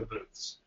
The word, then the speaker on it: booth: These are for trade show booths. Yes. Now he's saying the word booth, B-O-O-T-H, not booze, B-O-O-Z-E. These are booths. You have to be careful the way you pronounce that.